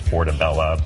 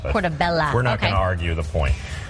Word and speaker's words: portabella: it's up for debate which is the proper way to say it there's actually a mushroom council that tells you that it's portabella portobello it's a great sandwich and